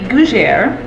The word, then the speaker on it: gougères: In fact, the Gougères, which is spelled G-O-U-G-E-R-E-S, has a festival every year in celebration of it, and it happens the third weekend of May.